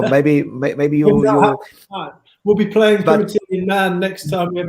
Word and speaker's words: Primitai: Thai, Primitai.